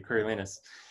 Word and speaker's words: Coriolan: play um coriolis coriolana wait how do you say it thank you curry lenas and um and beethoven's